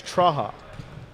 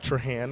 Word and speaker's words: Trahan: blake last name traja you wouldn't pronounce the end it was troha we'll go with trohan right now and you